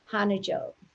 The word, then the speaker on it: Hannah Diop: doesn't happen often but your pronunciation of my name was flawless Hana Jo and I really appreciate